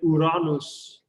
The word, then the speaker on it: Uranus: Uranus, or if you want to pronounce it correctly, Uranus.